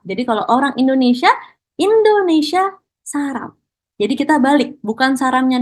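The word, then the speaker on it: 사람: kita sudah belajar nih, kosakatanya adalah saram, bukan sarang ya teman-teman ya. Kalau sarang itu cinta, ya. Oke, berbeda. Oke, nah kalau saram di sini untuk orang. Jadi kalau orang Indonesia, Indonesia saram.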